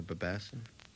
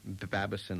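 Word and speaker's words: Babasin: piano, Barney Kessel guitar, Harry Babison, is that how you say it, or Babasson? No, Babison. Babison on the bass.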